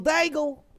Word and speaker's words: Daigle: a that's a daigle question dangle i love that last name rhymes with bagel bagel daigle bagel bagels if uh